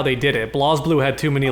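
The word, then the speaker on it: BlazBlue: Oh, because because he's not pronouncing it as Blaze Blue. Is that the problem? Well, it's called Blas Blue, I thought. That's what it's spelled, but it's meant to be pronounced Blaze cuz Japan.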